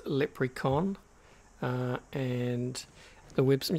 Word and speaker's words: Lepricon: name that leprechaun um kind of sounds like leprechaun but it's lip recon uh and the webs